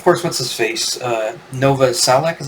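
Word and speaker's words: Novoselic: then then of course what's his face uh Nova salak is how you say his name the Bas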